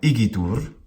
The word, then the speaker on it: igitur: But in complete isolation like this, out of context, igitur is an anapest. As we mentioned before, sometimes people will mispronounce the word igitur by turning it into a cretic, by making igitur long, short, long. Well, that's the rhythm of the cretic. Igitur is wrong, because it's not a cretic, it's an anapest.